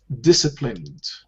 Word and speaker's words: disciplined: Disciplined. See this letter C, we don't pronounce it, so it becomes S.